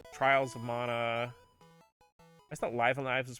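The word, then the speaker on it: Live A Live: The only one that's not is Live Alive, which, it's on Switch, and the Switch version's available physically.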